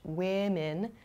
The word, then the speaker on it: women: Women sounds much different than the singular form, woman.